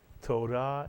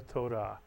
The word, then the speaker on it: Torah: most important word and this word is Torah Torah is correct Torah or taurah and taurah is the